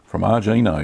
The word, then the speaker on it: formaggino: Formaggino, yeah, that's how you say it.